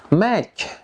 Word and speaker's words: match: Number 5, silent T. Friends, TC, T is not pronounced. Ternyata teman-teman, TC, T-nya tidak dibaca. For example, repeat after me. Watch, watch. Butcher, butcher. Match, match.